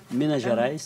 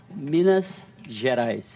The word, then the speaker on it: Minas Gerais: come from again Brazil miniaturize and miniaturize I'm saying it wrong Minas Gerais I know I should